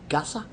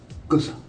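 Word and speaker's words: गुस्सा: How do you say it? Gasa? Gussa. Gusa. That's right.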